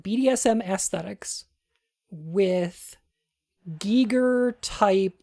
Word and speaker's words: Giger: It's not pronounced Geiger. I believe it's pronounced Giger.